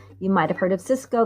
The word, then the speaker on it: Sysco: Cisco, you might have heard of Cisco. This one is SYSCO. There's another one that's spelled sort of similar, SICO, but this one's Cisco, SYSCO.